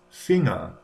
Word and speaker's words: Finger: In English it's Finger, but in German it is Finger.